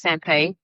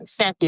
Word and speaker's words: Sampy: If you pronounce it the right way, I guess it's Sampay. If you pronounce it where it's from, but Sampy is fine too. Ah, okay. Sampy.